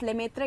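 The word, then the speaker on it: Lemaître: Belgium astronomer George's limiter इसे हिंदी में George लेमत्र कहते हैं बट लिमिटर कहते हैं एक्चुअल प्रोनाउंसिएशन बेल्जियम में जॉर्ज लिमिटर वाज़ द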